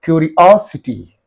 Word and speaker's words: curiosity: It is in this and in these two syllables. Therefore what should be the syllable preceding the suffix means? This one. You have to say curiosity. Curiosity.